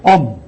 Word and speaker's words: Om: vertiginoso rasgando los éteres y poniéndolos incandescentes se pronuncia el sonido om om es un doble sonido que participa indistintamente